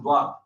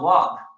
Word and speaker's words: ض: But when I will recite, because in our area, we don't pronounce dwad, we pronounce wad.